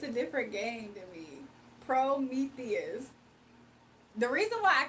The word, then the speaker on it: Prometheus: that her dog's name was pronounced Promethias. So yeah, I don't think he was in here when that first was discovered on this channel months ago. That's why Gabby and Lily can't get along. Say it right. Prometheus.